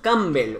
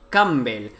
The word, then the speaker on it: Campbell: marcus no llaman marcus camby guau chaval me mola el nombre y el apellido marcus camby vale pues bueno campbell pero la pena la pronunció la p es muda vale tenemos aquí a